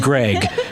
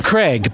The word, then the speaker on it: Craig: called my name yeah it mispronounced it it said Greg but and I'm Craig but this but it was